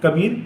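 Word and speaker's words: کبیر: अब हम इसकी हिज्जे करेंगे, किस तरह करेंगे, काफ बे ये कबीर, रे साकिन कबीर। तो इस तरह से ये कबीर पढ़ा जाएगा।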